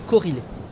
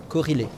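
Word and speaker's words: Korhile: Il s'appelle Corilé. Corrélé. Corilé. Comment ça s'écrit? K-O-R-H-I-L-E. Corilé.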